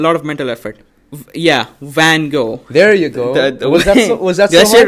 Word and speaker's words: Van Gogh: by da Vinci what Wango who did I say it wrong Van Gogh oh the V thing oh my God like